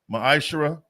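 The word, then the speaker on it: מעשר: 8-10 it means 10th in the Hebrew it's pronounced Maisha 10% of every penny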